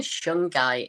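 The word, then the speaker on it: shungite: g i t e it's actually shung guy is how it's pronounced well this is how it's pronounced with the British accent I'm sure I'm sure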